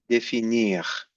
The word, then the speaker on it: définir: And définir. Faut bien dire le R. Please say the R here.